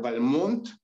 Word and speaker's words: Balmont: le cambia el nombre que dice se debe pronunciar balmón además de esto eh